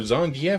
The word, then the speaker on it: Zangief: with our final two we've got zangi for zhangiap as I've heard his name pronounced in the game either way this guy